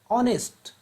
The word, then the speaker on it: honest: ये जो ऑनेस्ट है यह स्टार्ट तो एच से होता है, जबकि एच क्या है? कॉन्सोनेंट है। लेकिन जब हम बोलते हैं तो एच जो है वह साइलेंट हो जाता है और इसका प्रोनाउंसिएशन क्या होता है? प्रोनाउंसिएशन इसका ऑनेस्ट हो जाता है।